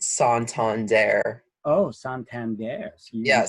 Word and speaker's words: Santander: It's actually a Spanish bank. Pronounced Santander.